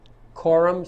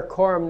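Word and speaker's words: coram: writ of error quorum novus rit of error quorum spelled c-o-r-a-m and the next word is nobus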